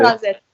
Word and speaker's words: Esch-sur-Alzette: Je l'ai bien prononcé ? Esch-sur-Alzette, oui, voilà.